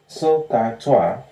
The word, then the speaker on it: SOHCAHTOA: This is how we pronounce it. SOHCAHTOA.